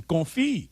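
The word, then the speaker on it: confit: Bam for your pronunciation. Confi.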